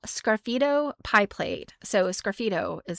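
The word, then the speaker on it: sgraffito: So, a scido is spelled S. The S is silent. S G R A F I T O. That is it's a scidito is a type of um like scratching into pottery.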